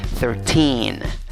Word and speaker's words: thirteen: delante la primera sílaba no tiene el sonido de una hija aunque se escribe con y se pronuncia con sua recuerdan la que no es ni a ni ningbo ok memoriza es la segunda sílaba se pronuncia con una y sólo una aunque está escrita con dos es cuál es la